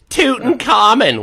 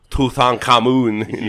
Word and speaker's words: Tutankhamun: sorry i'm it's like it's just like americans saying tootin common when it's tutankhamun yeah well nobody says